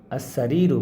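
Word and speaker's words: السرير: আর এই যে আসারিরু, এই যে সিনটা হচ্ছে সূর্যবর্ণ, এই জন্য এই লামটা উচ্চারিত হচ্ছে না।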